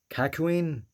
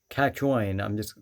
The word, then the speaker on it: Kakyoin: had that one, again, Kakuin? Again, I'm, that's not Kakuin, it's Kakon, or whatever the fuck. I'm sorry, I'm pronouncing the names wrong. But yeah, Kakyoin, I keep pronouncing it wrong.